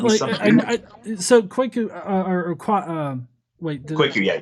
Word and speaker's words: Kwaku: So Kwaku, Kwaku, yeah, it's right. Kwaku, yeah.